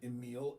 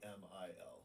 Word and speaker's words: Emil: Every single person I've ever met with that name calls it Emil, except for you. Yeah, because it's spelled with an E, so it makes a little bit more sense. Yeah, like it's not Amil.